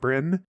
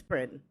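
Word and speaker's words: Bryne: um Brian burn Bri I never know how to pronounce it Gareth Brin bin I think it's bin I think it's bin okay yeah Gareth Brinn um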